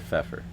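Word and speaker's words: Pfeffer: Uh I just call him Feffer. Mr. Feffer. Um begins with a P. The P is silent, but Mr.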